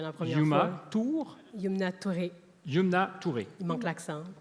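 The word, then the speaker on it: Youmna Touré: Yumna Touré.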